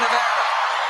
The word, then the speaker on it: Nevada: It's great to be here in Nevada.